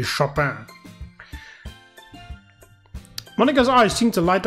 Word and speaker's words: Chopin: Oh, Chopin, or however you want to Englishly pronounce it, but I believe the French pronunciation would be Chopin.